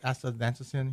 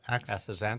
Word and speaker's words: astaxanthin: You said there's other types of astaxanthin here. Did I pronounce that right? Astaxanthin? Astaxanthin.